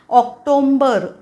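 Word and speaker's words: October: हा स्पेलिंग मध्येच नाहीये ऑक्टोबर नुसतं म्हणायचं ऑक्टोबर नाही म्हणायचं ऑक्टोबर ओके हे जोडीला मी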